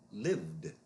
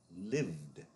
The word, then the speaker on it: lived: happened lived lived This ends in a V. Actually, the root word ends in an E, but the E is silent, so keep that in mind.